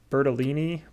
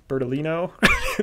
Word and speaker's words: Bertolino: to interview uh giovanni bertolini bertolino after i said it wrong yeah bertolino okay yep